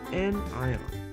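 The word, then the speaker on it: anion: or an n ion pronounced n ion.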